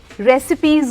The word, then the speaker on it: recipe: रेसिपीज होता है, RECIPE, बिल्कुल ना, मतलब स्पेलिंग बिल्कुल रिसाइप वाली है, लेकिन pronunciation is रेसिपी book, रेसिपी book.